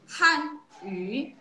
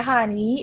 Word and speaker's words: 汉语: tone yang keempat Han, kemudian U-nya itu kalau kita pinginnya itu Y dan U, tapi kita bacanya U, mulutnya U, suaranya I gitu.